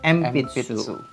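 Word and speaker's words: 鉛筆: Tulisannya adalah Enpitsu, tapi membacanya Empitsu.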